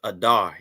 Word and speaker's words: Adar: Adar just like it just like it's spelled there that's how it sounds Adar in the Hebrew a